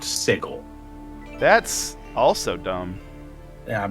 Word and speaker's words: Sigil: call me on it yes i know it's spelled the same way as the word sigil it is pronounced sigel that's also dumb yeah